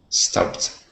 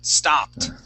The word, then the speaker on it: stopped: and the double s if it ends in a p sound we go right to a t just like pressed and clutched okay our base word is stop how would we pronounce this word with the t ending stopped great that's it stopped okay I got it